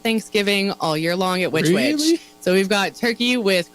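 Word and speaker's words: Which Wich: different and and if people haven't been to witch witch and the way it's spelled by the way is wh I yep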